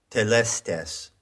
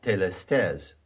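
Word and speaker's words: telestai: of those words is telestes now that is an anglicized pronunciation of the greek word that word is plural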